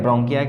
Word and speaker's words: bronchi: ब्रोंकियाई का स्पेलिंग क्या हो जाएगा, BRONCHI, ब्रोंकियाई, ठीक है।